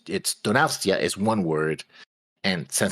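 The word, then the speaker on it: Donostia: It's pronounced Donastia. Donastia San Sebastian.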